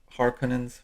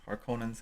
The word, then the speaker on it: Harkonnen: found on planet arrakis so the harkonnens harkonnens there's a couple different pronunciations but the harkins are